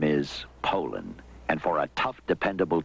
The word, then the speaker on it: Poulan: like to remind you that our name is Poland and for a tough Dependable chainsaw Poland is The Only Name you need to remember no matter how you pronounce it Poland